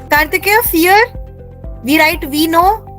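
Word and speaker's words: vier: Kartikeya, fear. We write we know. There is not F. We don't use F. The pronunciation is F, but the number is V. Yeah, the alphabet is V.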